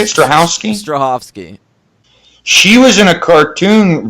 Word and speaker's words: Strahovski: Strahovski.